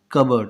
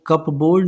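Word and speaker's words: cupboard: कबर्ड। ये पी जो है ना ये साइलेंट होता है इसमें। सो कप बोर्ड नहीं पढ़ते इसे, इसे क्या पढ़ेंगे? कबर्ड। CUBUARD के जैसा इसका साउंड आएगा।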